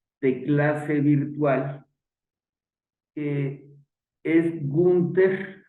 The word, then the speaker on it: Günter: clase virtual que es gunter se pronuncia ginter Panda miren les platico